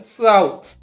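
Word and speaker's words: south: তাহলে হলো হচ্ছে বোথ এস ও ইউ টি এইচ শেষে এইচ টি এইচটা থ হবে আর এস মানে স ওই মানে আও এর মত উচ্চারণ তাহলে সাউথ তাহলে প্রথম রুল পেলাম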